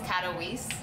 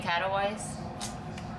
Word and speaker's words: Katowice: saying the location wrong I think it's Katowice I've been saying catalyze I actually didn't think that it would be like lease but I heard the hosts say it earlier so much I've been saying it wrong the whole time yeah I actually